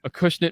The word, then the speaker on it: Acushnet: all right we are back here Maddie kiwoo Acushnet Massachusetts yeah you said it right that's a